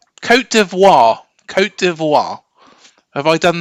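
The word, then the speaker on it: Côte d'Ivoire: be honest Co C co deoir co deoir have I done that Justice there yeah you don't pronounce the T otherwise that's perfect okay codo codo for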